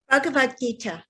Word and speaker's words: Bhagavad Gita: I think it's easier for me to pronounce song celestial rather than, is it Bhagavad Gita? Bhagavad Gita, yes.